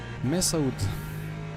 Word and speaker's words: Mesaoud: Don't pronounce the O. Mesaoud.